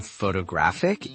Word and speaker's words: photographic: And in photographic, it moves again. Photographic. That's incredible.